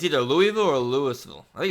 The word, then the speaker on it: Louisville: wrong I might mess this up it's either Louisville or Louisville I think it's Louisville it's Louisville okay I think the way you